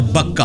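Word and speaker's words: بكة: ये मक्के की दो प्रोनाउंसिएशन है, मक्का और बक्का, बा के साथ भी।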